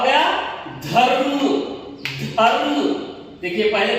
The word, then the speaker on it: धर्म: होने के बाद ही इसके इस व्यंजन का प्रोनाउंसिएशन हो रहा है, कर्म, देखिए कर्म। ठीक है, इसी तरह तीसरा देखिए, ध रु म, क्या हो गया, धर्म, धर्म, देखिए पहले ध रु म धर्म।